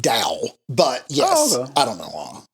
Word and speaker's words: Tao: to it's it's pronounced Dow but yes I don't know why it's tell like chese Japanese th it's it's pronounced with a D sound or it's sort of a in between D and T I'm probably not doing